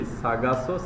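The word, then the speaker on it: Sargasso: Sagasso Sea. Just remove R.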